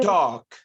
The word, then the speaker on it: talk: the L is mute the L is silent you don't say CH you don't say talk okay maybe we should